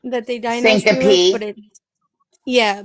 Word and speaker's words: syncope: But it's syncope that they gave me, that they diagnosed me with, Syncope, but it's pronounced syncope.